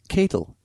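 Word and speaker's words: Ketel One: in the Netherlands oh so they actually make Kettle One vodka as well very interesting did not know that pronounced CLE so it's actually CLE CLE one wait aren't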